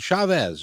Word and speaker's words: Chavez: Chris Chavez is with Chavez, right?